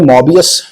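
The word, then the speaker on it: Möbius: है, ओ मतलब है, लेकिन जर्मन लैंग्वेज में मोबियस के जो स्पेलिंग आप लिखते हैं ना, MOE, इस तरह, यानी ये वाला जो ओ है ना, वो ओ और ई को दोनों को कंबाइन करके आवाज देता है, ठीक है ना, ये साउंड देगा, मोबियस।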